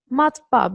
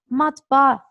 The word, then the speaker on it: matbaa: çocuklar arasında Sakın karıştırmayın iki tane a üst üste matbaa böyle okunuyor O yüzden bunun Okulu